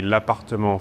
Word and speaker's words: L'Appartement: The official pronunciation would be L'Appartement 4F.